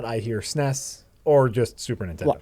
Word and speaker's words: SNES: I've heard it pronounced both SNES and SNES. Mostly I hear SNES. SNES. Yeah. What about the SNES? The SNES. You spell out each letter, or sound out each letter.